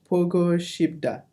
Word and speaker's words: 보고 싶다: But how do we pronounce it in Korean? Pogo. Yeah, okay. Pogo Shibda.